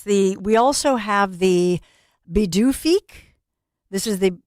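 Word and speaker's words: Pituffik: I claim, you know, I'm behalf Scandinavian, but it's the P is pronounced as a B.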